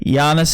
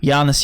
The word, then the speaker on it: Giannis: the low value options yeah and this sorry Yanis is the way to pronounce it it's just the way it's spelled I know Yanis yamas Yanis Yanis I know I'm sorry alright